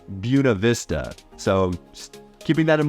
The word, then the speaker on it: Buena Vista: It's not Buena Vista, it's Buena Vista.